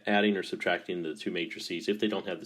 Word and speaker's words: matrices: little bit okay so here are all our matrixes matrixes oops we don't want to say that and that's like the matrix movies it's pronounced matrices so we have a as a square meant